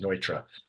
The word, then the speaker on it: Neutra: It's the German pronunciation of it. Not Neutra. It looks like Neutra. You're right when you look at the word, but it's actually pronounced Neutra.